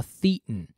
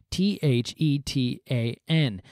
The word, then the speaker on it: thetan: Just interesting enough, if you were to pronounce it according to the Greek letter, it'd be thetan, which is Satan with a lisp.